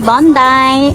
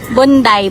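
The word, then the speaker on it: Bondi: Bondai is it my pronunciation is right? Bonday. Bondai. Hindi kasi maar daw. Maar daw yung ano wording. Bondai. Bundai ready to die. How you tita? Parang Bunday po day.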